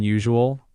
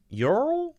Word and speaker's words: usual: Soften that middle part. Usual. Usual. Yep, that's it. Sounds natural. So it's a Z sound.